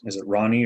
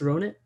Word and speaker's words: Ronit: Is it Ronnie or Ronit? Had a question if they want to. There we go. Yeah, it's Ronit.